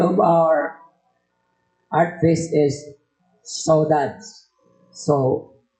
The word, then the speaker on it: saudade: So the title of our art fest is Saudades. So it's a French, Portuguese word. Kung basahin natin, saudade. Dami pronunciation.